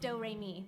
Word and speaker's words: Doremi: name is doremi midorikawa it spells like notes and pronounced doremi it's one of those